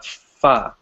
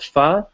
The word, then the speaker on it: pho: so yes yesterday I tried a dish called foie it's called foie but it's written as faux pho right it's